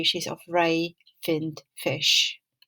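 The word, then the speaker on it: Fionn: these two strange words feon it's pronounced as finn and finnegas as phenagus how do you think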